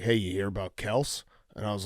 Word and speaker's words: Kelce: "Hey, you hear about Kels?" And I was like, "What?" Because he was actually pronouncing it correctly, Kels.